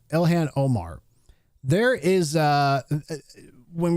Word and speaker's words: Ilhan: Now, speaking of Elan Omar, I'm going to call her Ilhan. I think that's how you say her name. Elhan Omar.